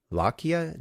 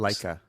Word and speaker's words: Leica: was for the And I'm not sure I'll pronounce this correctly either, but what is it? The Lakia notebooks. Leica Leica.